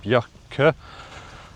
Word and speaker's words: Björkö: And I've came across some locals who told me the correct pronunciation of the name of this island. So, it's called actually Björkö, not like I was saying.